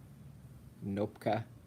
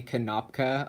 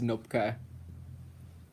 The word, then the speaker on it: Knopka: Nopka. People say Kanopka a lot, but it's Nopka.